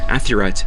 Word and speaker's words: Athirat: El, the high god, asks his wife Asherah, or Athirat as it is pronounced in the Ugaritic language, who should take Baal's place.